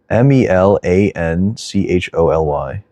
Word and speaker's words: melancholy: uh melan Mel melan I never knew how to pronounce this word melan choli m e l a n c h o l y maleni I don't know how do you pronounce that word I always see it maybe CH is melancholy Melancholy okay okay okay okay gotcha